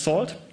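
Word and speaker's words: NaCl: curve it uses a networking and cryptography lip pronounced salt and it uses elliptic curves for the Diffy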